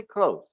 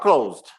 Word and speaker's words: clothes: tip um the pronunciation many people mispronounce it so just say close okay close close close close not closed closed closed uh it's